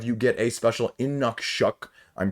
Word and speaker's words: Inukshuk: If you accumulate more than 5, you get a special Inukshuk, I'm pronouncing that correctly because it has the pronunciation